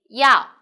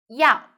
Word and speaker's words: 药: 药. So pay attention here. Is E plus 凹腰. So, but when you write, we need to write like this. 腰. So, first tone. 药.